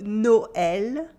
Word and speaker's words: Noël: joyeux is silent, and this weird letter is called, well, the sign on the top of it is called un tréma. Un tréma. This means that the sound is like a separate letter.